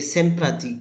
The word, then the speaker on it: sympathique: So here, Elle est sympathique.